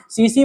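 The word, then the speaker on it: tsetse: सीसी मक्खी है भाई साहब। यहाँ पर टी साइलेंट है, टी क्या है? साइलेंट है यहाँ पर, है ना। तो इसको बोलते हैं सीसी मक्खी।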